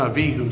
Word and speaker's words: Avihu: okay by the way if i revert back into hebrew uh their names are nadav and avihu so forgive me if